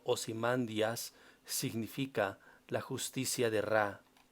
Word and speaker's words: Ozymandias: elegido de ra y usher madera que en griego será pronunciado ozymandias significa la justicia de